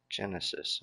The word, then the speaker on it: Genesis: My name is pronounced like the old game system. Sega Genesis. Genesis.